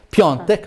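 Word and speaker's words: Piątek: e per il mercato piontek perché anno ci hanno detto che si pronuncia così diavolo sempre più vicino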